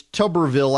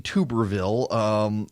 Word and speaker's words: Tuberville: sucking this morning yeah Philipp tells me it's Tuberville I've been saying Tuberville why not he's from